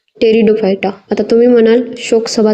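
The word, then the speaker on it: Pteridophyta: थॅलोफायटा ब्रायोफायटा आणि टेरिडोफायटा टेरिडोफायटा मध्ये पीटी अशी स्पेलिंग येते इथे पी हा सायलेंट असतो इथ टेरिडोफायटा आता तुम्ही म्हणाल शोक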